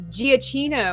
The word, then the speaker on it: Giacchino: I believe it's Michael Giacchino, I think is how we pronounce his name there.